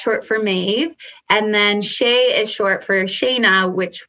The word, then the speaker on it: Chez: i pronounce it properly it's c h e z but it's pronounced shea so i am curious